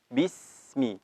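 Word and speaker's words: بسم: Maka cara membacanya disambung dengan huruf berikutnya. Bismi, seperti itu. Jadi tidak boleh dipotong. Bismi, tidak, tapi harus dialirkan.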